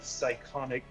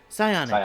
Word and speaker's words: psionic: a uh bean of psychonic psychotic psionic. How do you pronounce it? How do you pronounce that? Psionic, sweetheart.